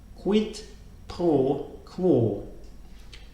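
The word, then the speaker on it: quid pro quo: Latin saying how we pronounce this this is pronounced quit toe claw quit poor cool so it says quite quick it's not her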